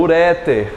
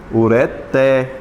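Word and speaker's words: ureter: Essa palavra também utilizada no meio médico também é chamada de como? Uréter, quando na verdade é o quê? Ureté. A mais forte é o té.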